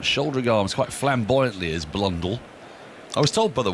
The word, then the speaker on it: Blundell: to our stump shouldering arms quite flamboyantly as blondel i was told by the way the pronunciation of blundell by um craig mcmillan who's